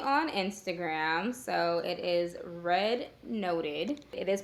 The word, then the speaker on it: readnoted: I am mainly on Instagram so it is red noted it is pronounced R noted not read noted as I have noticed that everybody thinks it